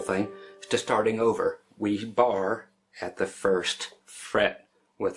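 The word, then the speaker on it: barre: That's called a bar. It's spelled B-A-R-R-E. Yep, that's the way it's spelled for some reason.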